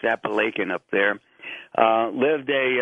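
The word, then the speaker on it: Apalachin: called appalachin uh it it looks like you want to pronounce it Appalachian but it's pronounced appan up there uh lived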